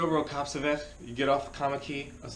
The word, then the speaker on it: Kommetjie: I was like, okay, sure, how do you spell Kamaki? Because in my head, I'm thinking it's spelled some way, but in South Africa, it's spelled differently. I was like, oh yeah, Kamaki, yeah, that's Kommetjie.